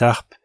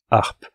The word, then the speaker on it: harpes: cet harpes et attention on ne fait pas la liaison c'est pas cet ARP c'est 7 harpes comparé 7 heures avec la liaison et 7 harpes sans liaison que se passe-t-il avec